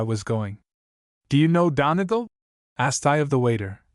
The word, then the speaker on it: Donegal: Do you know Donegal? Asked I of the waiter, giving to my pronunciation of the word a long second and a short third syllable.